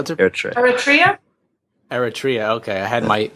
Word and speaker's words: Eritrea: to her church area Eritrea okay I had my I had my pronunciation or emphasis on the wrong syllable you have to put